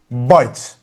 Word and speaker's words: bite: When you add E, you don't read the E, but the sound of the vowel before it changes.